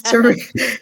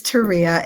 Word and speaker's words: Terria: It's Terria. It's Terria. It's spelled Terria.